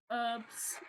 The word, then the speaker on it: herbs: Like there's some like herbs and spices that I cannot stand the smell of. You know what? I love the fact, Charlotte, you didn't pronounce the H again.